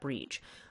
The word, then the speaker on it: Brigid: There's a whole variety of spellings, which is why, and nobody looks at Brigid and thinks that you pronounce that Brige.